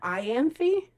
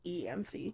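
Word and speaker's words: Elain: um wedding planning eany I call heran Ian so in the audio book they said iany but whenever Alanis and I looked it up it said the pronunciation was eany eany that makes me hate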